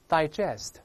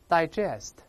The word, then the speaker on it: digest: 个特征，前面发 I 或者发 A 都正确，分别读一下 digest， digest， digest， digest，叫做消化。